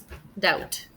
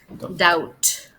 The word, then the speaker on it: doubt: popular thing in English you spell it like this so the B is silent doubt okay anything else that